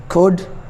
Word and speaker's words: could: L is not pronounced in some cases when it is before D. For example, would, could, should.